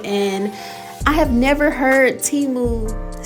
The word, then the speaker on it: Temu: like I said these nails are from teu or should I say timu cuz if you saw the Super Bowl you saw that teu commercial and I have never heard timu say how they pronounce